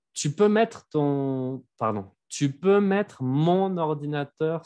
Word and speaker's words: mettre: Tu peux mettre mon ordinateur sur la table, s'il te plaît. Ok. Ah, y ahora que lo pienso, en este verbo el infinitivo sí se pronuncia la R, ¿eh? Mettre.